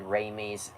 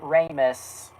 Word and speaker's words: Ramis: No, I mispronounced Ramis. I mispronounced Ramis, and I didn't catch it until I said it. I meant Ramis, not Raimi.